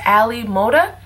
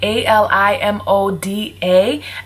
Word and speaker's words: AliModa: an AliExpress hair company called I believe it's pronounced Ali Moda um a l i m o d a Ali Moda and this is some virgin Brazilian